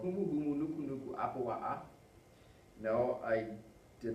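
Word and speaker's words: humuhumunukunukuāpuaʻa: This little apostrophe here, this little apostrophe is like a brick.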